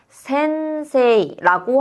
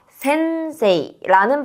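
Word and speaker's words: せんせい: 무슨 말이냐면 우리 선생님을 일본어로 뭐라고 하냐면 센세이라고 하게 돼요. 이때 여러분 새음이라고 해서음 발음 뒤에 새가 왔잖아요. 다시스세소라는 사행에 와 있는 단어이기 때문에은 뒤에 새가 와서 음은 니음받침의 발음 역할을 해서 센세이라는 발음이 된다라고 생각해 주시면 되겠습니다.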